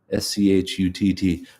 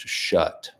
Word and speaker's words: Schutt: of this after, but I'm saying Schutt. You might not think it's spelled this way based on that. Schutt. When I first got into her, I thought it was pronounced shut, like shut the door. And then thankfully I heard her interviewed on Bookworm by Michael Silverblatt, and he was saying it properly.